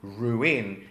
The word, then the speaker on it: ruin: But the verb and the noun ruin is pronounced with two separate vowel sounds, which is quite unusual in English.